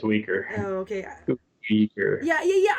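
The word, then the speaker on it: Uyghur: thought it was i don't remember how to pronounce it oh sorry it's weaker oh okay yeah yeah yeah i don't know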